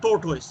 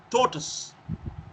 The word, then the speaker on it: tortoise: Now pronunciation for this what we normally hear is tortoise but it is not tortoise. It is tortoise. Taught us as if he taught us mathematics, he taught us physics, he taught us English.